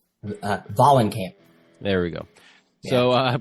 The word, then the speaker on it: Vahlenkamp: Vahlenkamp.